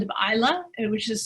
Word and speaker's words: Islay: to go to the island of isla and which is spelled islay but it's pronounced isla and there is a